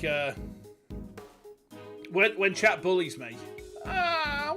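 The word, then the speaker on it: Nguyen: get someone who's Vietnamese and their name is when but it's spelled uh NG g u ye n but you pronounce it as when is it like is it like a a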